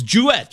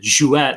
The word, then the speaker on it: Jewett: remember and of course greg greg jewett it's jewett right yes if uh it's but funny side